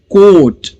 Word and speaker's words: coat: वैसे ही कोट, कोट, COAT, तो यहां पर लॉन्ग वोवेल साउंड है ओ, कोट, ए को साइलेंट रखेंगे और लिखेंगे।